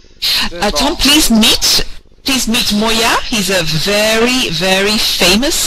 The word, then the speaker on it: Moya: You pronounce Moya? Is it Moya? Moya.